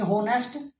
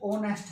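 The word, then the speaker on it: honest: अच्छा ओ नेस्ट हो गया, ये तो नहीं हुआ, चलो ये भी देखो ओ नेस्ट होना चाहिए था आपके अकॉर्डिंग, हो नेस्ट, तो ओ नेस्ट है एच साइलेंट।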